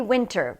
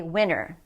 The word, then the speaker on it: winter: California okay winter now a lot of people say winter but when we're speaking quickly it often happens that we'll say winner the winners here are